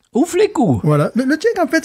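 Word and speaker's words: U Fleků: Alors, la plus vieille brasserie tchèque, attention, Ouflekou. Ouflekou. Voilà. Le tchèque, en fait, ça s'écrit bizarre, mais ça se prononce assez bien, finalement.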